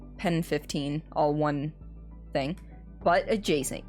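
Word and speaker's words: PEN15: Um I'm assuming it's pronounced penis, but it's pen 15.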